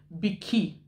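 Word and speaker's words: bikkie: He's not a baby actually, that's the Australian way of pronouncing biscuit. They say Bicky, like B-I-C-C-Y.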